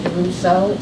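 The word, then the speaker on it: Desruisseau: spell your last name my last name is pronounced daro spelled D e s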